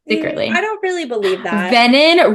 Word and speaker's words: venin: Venin rhymes with Brennan.